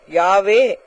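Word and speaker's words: Yahweh: யகோவா என்பது தேவனுடைய நாமம் இதை யகோவா என்றும் யாவே என்றும் எபரேய பாஷையிலே சொல்லுவார்கள் ஏனென்றால் இது உச்சரிக்க கூடாதபடியான ஒரு பரிசுத்தமான ஒரு நாமம் எனவே உயிரெழுத்தி இல்லாமல் மெய்யெழுத்துக்களை மாத்திரம் கொண்டு அமைந்த ஒரு நாமம் வைஹச்யூஹ அல்லது வைஹச்விஹச் என்றே எழுதப்பட்டிருந்தது இதை உச்சரிக்க வேண்டும் என்பதற்காக ஒரு ஈ ஒரு ஓ ஆ சேர்த்து யகோவா ஜெகோவா என்று அழைத்தனர் இதற்கு அர்த்தம் என்னவென்றால் தி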